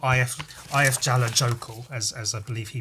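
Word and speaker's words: Eyjafjallajökull: It's more like Ayafyala Yoku or something. It's more or less Ayafyala Yoku. If it was said by a British person but pronounced more or less correctly, it would be Ayafyala Yoku. But it just sounds more Icelandic, which, given that it's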